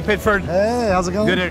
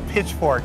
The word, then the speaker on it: Pitchford: for years to come hey Randy Pitchford if I pronounced your name right I keep wanting to say pitchfork cuz that's a no there's a lot of